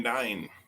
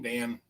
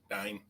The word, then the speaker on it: Dyne: Number 2, Hope Van Dyne. Dean, Dan, Dine, not Dan.